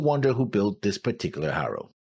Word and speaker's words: Haro: I still wonder who built this particular Haru. We say Haru because that's how they say it, but it's it's Romanized Haro, but it's Haru, not Haro.